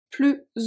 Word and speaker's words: plus: So technically those 2 are pronounced plus, but because of the O of ouvert and the A of agréable, we are going to pronounce it as a Z sound.